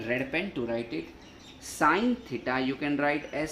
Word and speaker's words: sine: Sine theta you can write as sin theta, but kindly pronounced as sine theta only. Don't pronounce at sin theta.